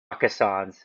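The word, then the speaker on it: Rakkasans: Can you pronounce this Rakassans? Rakassan? Rakassans.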